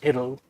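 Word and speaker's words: idyll: So you could read some of these that way, as kind of like this idol, I-D-Y-L-L, sometimes pronounced idol, but the idol, you know, this sort of idea of Arcadian view that would be pleasing for these Anglo-Indians.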